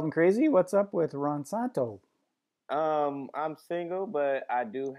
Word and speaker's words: Ronsanto: I've got my friend Ronsanto. Did I pronounce it right? Yes, Ronsanto, or you call me Santo.